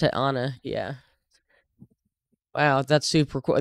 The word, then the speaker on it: Anne: actually name they actually said Anna Anna they pronounced it Anna yeah wow that's super cool that's one thing